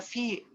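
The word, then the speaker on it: φ: Y esto de acá, de hecho es Fi, se pronuncia Fi, también es letra griega.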